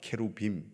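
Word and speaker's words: כרובים: 원래는 발음이 케루빔입니다. 케루빔. 케루브 복수가 케루빔 이렇게 되는 것이죠.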